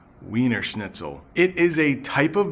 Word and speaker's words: Wiener Schnitzel: about pronouncing this but in English we say wiener schnitzel weener schnitzel it is a type